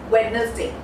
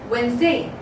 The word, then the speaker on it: Wednesday: So this day, most of the people pronounce it as Wednesday. Wednesday. But people, the pronunciation Wednesday is absolutely incorrect. There is a correct pronunciation, and that is Wednesday. Wednesday. Okay, it's Wednesday. It is not Wednesday.